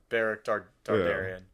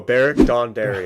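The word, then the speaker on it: Beric Dondarrion: Flaming sword yeah uh baric dardarian I definitely mispronounced his name I think you just I think you just mashed together like five characters names in that one no baric Dawn Dari okay there you go that was close so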